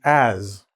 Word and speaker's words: has: "Has" becomes "azz", and I'm putting the "z" sound because pronunciation, it's not "a-s".